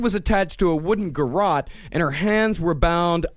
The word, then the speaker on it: garrote: was attached to a wooden, how is this pronounced, garrote? It's garrote.